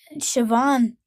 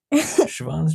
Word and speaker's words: Siobhan: Siobhan's traditionally Irish female. Female. I know. And it's spelled definitely not the way it sounds.